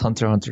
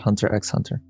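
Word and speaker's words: Hunter × Hunter: there we are where's pronounced hunter hunter not hunter x hunter i'm just reading and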